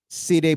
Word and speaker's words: Saidi: Between Saidi and Taveras. Siday palang bigkas.